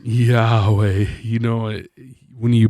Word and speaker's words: Yahweh: a pretty important name Yahweh you know when you pronounce it Yahweh it's supposed to sound like a breath which comes down to